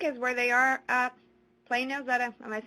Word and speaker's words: Plano: Plano, am I saying it correctly?